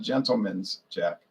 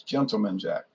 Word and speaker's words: Gentleman Jack: I hear some people pronouncing Gentleman's Jack. It's not Gentleman's Jack. It's Gentleman Jack.